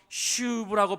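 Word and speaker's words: שׁוּב: 것이 바로이 회개라는 말입니다 원래 구약 성경의 언어로 슈브라고 발음하는 회개는 가던 길에서 돌아서서 다른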